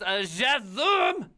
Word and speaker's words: JSON: It's pronounced JSON.